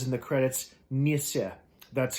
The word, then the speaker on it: Nisser: netflix or is it says in the credits nissa that's how you pronounce it it is the uh scandinavian word